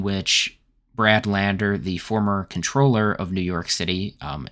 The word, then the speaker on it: comptroller: Brad Lander, the former comptroller of New York City, um it's a finance-related position, um similar to being uh an elected treasurer. It's spelled comptroller, but pronounced controller.